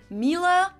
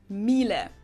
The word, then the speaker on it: Miele: And it's not exactly pronounced wrong in English, but English native speakers usually say something like Miele. So it usually sounds more like an A in the end, whereas in German we say Miele. Miele.